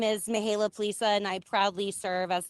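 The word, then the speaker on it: Mihaela Plesa: chair of this group, Mihaela Plaza. Am I close, Mihaela? Thank you so much, Is that close to Senator? pronunciation? Yes, you did very well.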